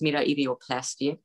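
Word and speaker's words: metoidioplasty: I believe in English it's pronounced meta-idioplasty, and that means that's a clitoral release.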